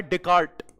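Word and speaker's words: Descartes: He's called Galileo of political science and influenced by Deart say D C A R T E S but S is silent here.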